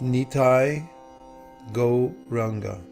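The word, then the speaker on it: Nitai Gauranga: you oh foreign has five syllables it's nitai go ranga and I'll say that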